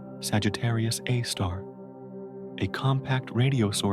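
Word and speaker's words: Sagittarius A*: Sagittarius Edo, pronounced Sagittarius Aar.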